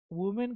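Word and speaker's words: women: वुमेन का plural बनाएंगे तो प्रोनाउंसिएशन भी चेंज हो जाएगी, विमेन हो जाएगा।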